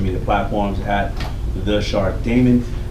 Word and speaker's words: Daymond: platforms at the shark Damon Damon is like spelled with like Raymond but with the deep and of course the